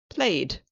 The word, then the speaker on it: played: Last one, we say the ED like a D sound, and it's often when we don't have a sound at the end of a word, so a missing sound. Example, played.